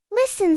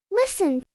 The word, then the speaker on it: listen: Listen. Silent T. Listen.